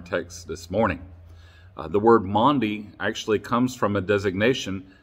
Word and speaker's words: Maundy: The name of Thursday in Holy Week is called Maundy Thursday, and that's spelled M-A-U-N-D-Y, Maundy Thursday.